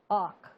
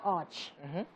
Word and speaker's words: arch: When they call arch. Oh. But why? But why? We want No, to they know. don't. No, the proper pronunciation is actually brow arch, but they call it brow arc.